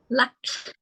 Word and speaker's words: Luck: Is it Luke or Luck? How do I pronounce it? Luck. Luck. Okay, Luck.